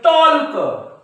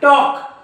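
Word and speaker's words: talk: केव्हा केव्हा सायलेंट असतं ते मुलं या शब्दाला कसं वाचतील टॉल्क पण हा टॉल्क नाही टॉक कारण की का के च्या अगोदर एल काय असतो सायलेंट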